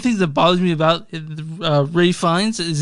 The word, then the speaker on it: Fiennes: One of the things that bothers me about Ray Fiennes is it's pronounced Rafe, and I'm like, why?